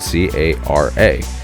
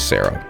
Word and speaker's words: Cara: Uh one of the characters, their name is spelled C A R A. Now, you're probably thinking, "Yeah, that spells Cara." For whatever reason, my brain thought it was Sarah.